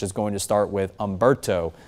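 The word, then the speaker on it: Humberto: And then eventually we'll get into the second column of names which is going to start with Ombberto. The h is silent on that name.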